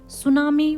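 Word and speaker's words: tsunami: सुनामी warning, T जो यहाँ पर होता है ये साइलेंट होता है सुनामी के अंदर।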